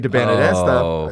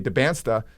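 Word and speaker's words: Dybantsa: But they're going to play BYU on Friday, and AJ DeBanista, I just added another syllable to his name, AJ DeBansta. So that's a fun exhibition game.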